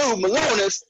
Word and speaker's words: Malonis: That's why I know I can remember it too, Malonis, because it almost rhymes with Balonis.